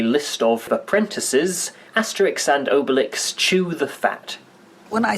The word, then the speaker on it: Obelix: own pronunciation of Obelix which is a pun of Obelisk therefore I should be pronouncing his name Obelix as the Canadian dubbers of this film have done naturally obelix's mind is